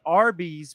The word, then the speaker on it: Arby's: they ended up choosing Arby's which was a phonetic pronunciation of the letters R and B short for Raffle Brothers.